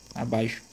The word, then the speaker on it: abaixo: Por exemplo, abaixo. Perceba aqui, viu? Aqui a gente tem um ditongo e esse camarada aqui, ele tem som de CH.